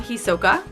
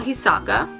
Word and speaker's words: Hisoka: Anyway, we have Hisoka, who I used to call Hisaka.